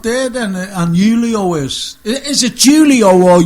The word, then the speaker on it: Julio: So Julio, you got to pronounce everything in the original. Properly. Silent J, a silent J, as they say.